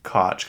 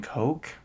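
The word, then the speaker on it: Koch: that I've always said it was cotch cuz there's that cotch industries that family that's really rich but apparently people are saying Coke k o CA how do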